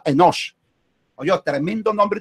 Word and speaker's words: Enosh: No era Enos como lo pronunció él, no era sal de fruta de Enos, era Enosh.